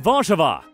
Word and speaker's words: Warszawa: Poland's capital and largest city is Warsaw, which in Polish is pronounced Warszawa.